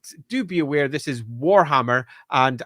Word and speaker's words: Warhammer: But do be aware this is Warhammer. And I will stress the first syllable of that war.